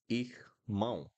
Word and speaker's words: irmão: Then we have irmão, irmão, irmão. Pay attention also on the pronunciation of the R here.